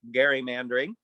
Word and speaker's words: gerrymandering: that uh just one more let's talk about gary mandering i just recently learned that that's how it's pronounced even chief justice roberts in some personal